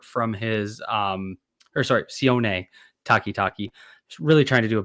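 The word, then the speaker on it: Sione Takitaki: One of the first guys I saw that popped to me um was Sion Takitaki. Uh a guy that most of you will probably remember from his um or sorry, Sion Takitaki.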